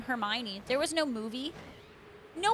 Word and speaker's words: Hermione: Like, it's kind of like when the Harry Potter books first came out and there was the name Hermione.